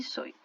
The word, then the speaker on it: soy: Terminou com a Y, vai ter som de I, tá? Paraguai e soy.